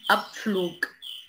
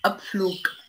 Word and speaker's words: Abflug: Abflug Abflug Zug Zug نطق كا نطق كا هنا في الجملة.